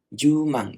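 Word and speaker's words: 十万: itu 7 ya kan makanya ini dibacanya jumang gitu ya sama juga dengan yakuman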